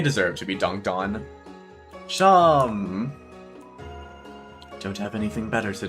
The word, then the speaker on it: Seam: Seam. Don't have anything better to do? How about yourself? The name's Seam, pronounced Shawn.